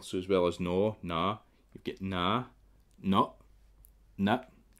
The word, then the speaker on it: naa: And in the northeast, what they tend to do for the ah sound is put a double A. So in the northeast, you'll want to spell it like that. Nah.